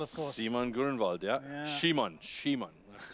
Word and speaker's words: Simon: Shimon.